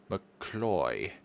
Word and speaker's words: McCloy: not know yeah mccloy you said it right the second time mccloy okay uh do you